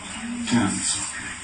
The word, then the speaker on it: Thames: How do you pronounce the river here? Thames.